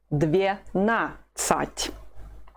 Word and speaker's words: двенадцать: Двенадцать. The stress is on the second syllable, just the way it was with the word 11.